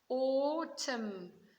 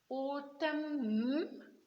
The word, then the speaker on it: autumn: Autumn. We stop with a m, but the n is silent.